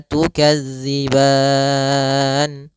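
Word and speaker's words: تكذبان: empat harakat yang tengah-tengah maka tukazziban EMP harakat saja baru dimatikan nunnya dengan sempurna um kemudian maral bahq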